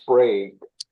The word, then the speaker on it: Sprague: pronounced Sprague, Amanda.